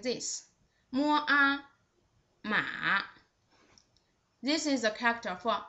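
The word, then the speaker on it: 马: The third one with the third tone, its pronunciation is just like this. Mua, ma.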